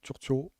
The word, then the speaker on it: Turturro: Et puis, je pense que pour finir, au niveau du casting, John Turturro, c'est comme ça qu'on le prononce, John Turturro, ouais.